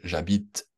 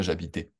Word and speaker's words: j'habite: de les prononcer correctement de dire je j'habite et non pas j'habitais j'habite et toi tu